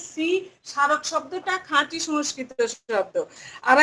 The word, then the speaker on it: স্মারক: তাহলে শ্রী যোগ অক স্মারক, এই দেখো রিকারটা উঠে গিয়েছে, এই যে আর ধ্বনির সৃষ্টি হয়েছে। স্মারকের যদি আমরা ধ্বনিতাত্ত্বিক বিশ্লেষণ করি, দন্ত স ময়ের কোনো উচ্চারণ নাই, সা র ক যোগ অ।